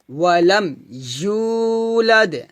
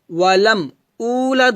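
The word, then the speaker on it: وَلَمْ يُولَدْ: লাম ইয়ালিদ লাম ইয়ালিদ ওয়ালাম ইউলাদ ওয়ালাম উলাদ হবে না কি হবে ওয়ালাম ইউলা এখানে আমরা জিহ্বার মধ্যখান উপরে সঙ্গে লাগে উচ্চারণ করব কুফুয়ান আহাদ কুফুয়ান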